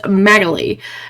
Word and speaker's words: Magali: I keep saying Magali, or Magali, but it's Magali. At least that's how the AI pronounce.